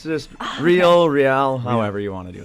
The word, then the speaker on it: Reihl: You just accepted that people mispronounce your last name that much? Yeah, it's just Reihl, however you want to do it.